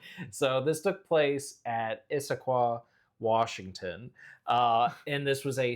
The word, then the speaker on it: Issaquah: we had to look up the pronunciation of this before we started. So this took place at Issaquah, Washington.